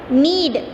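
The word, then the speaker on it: knead: And next need, what it is, need, press something firmly and repeatedly with hands and fingers. Next word नीड, ठीक है। यहाँ के silent है तो नीड मतलब प्रेस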